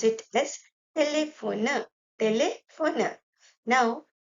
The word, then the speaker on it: téléphone: So we pronounce it as téléphone, téléphone.